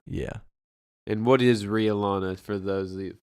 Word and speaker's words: Rhea Lana: No, Rhea Lana. RHEA. Emphasis on the E. Some people might confuse it for Ray, but it's Rhea. Rhea Lana. Yeah. And what is Rhea Lana for those of you It's that don't it's know?